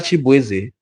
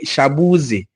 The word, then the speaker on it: Chibueze: His name is Chibueze, mana ndị ọcha na-akpọ ya Shabuzi.